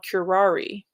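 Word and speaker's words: curare: a plant toxin called curari you'll notice that the first syllable of curari is cure or Cur and you'll see this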